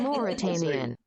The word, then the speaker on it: Mauritanian: The Mauritanian.